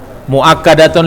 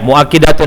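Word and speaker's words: مؤكدة: Li anna inna muakkadatun lil khobar. Yang lain bacanya muakkidatun. Ya, muakkidatun yang betul.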